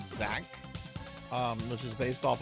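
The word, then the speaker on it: Xak: There's a really good ease like game on the SNES called Zach. Um, which is based off of a much earlier Japanese computer game. It's spelled X AK.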